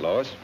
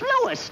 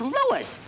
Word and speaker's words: Louis: story at the plant lois lois my name is louis not lois chief where is everybody in tripoli is my name wrong it's lewis l o u i